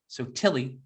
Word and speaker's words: Sotelli: On the other side of the glass is Stephanie Sotelli. Sotilli, that's the right way to say it.